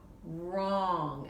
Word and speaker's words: wrong: Here's a word with another silent letter, wrong, and the W is silent.